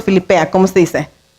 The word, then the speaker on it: Filipenses: ¿De Filipenses o Filipea? ¿Cómo se dice? Filipenses, ok.